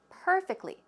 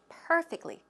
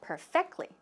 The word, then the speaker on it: perfectly: the pronunciation of perfectly perfectly where does a stress go it goes on the first syllable perfectly perfectly but you said perfectly so if you just